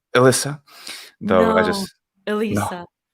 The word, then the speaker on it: Elissa: There's a difference between the way I say my name in English and the way I say my name in Italian. Because Ovviamente. the vowels change. Mm, And dici. yes, and I put the double S in the Italian version. So the English version is Elisa, so it's like an Elisa.